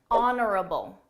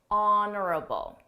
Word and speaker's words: honorable: her speech was genuine honorable honorable notice that silent h honorable this is someone who's